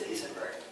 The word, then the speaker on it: Isenberg: So the stadium has far more space on one side, and it's wider on the other side of Isenberg, but it is Isenberg.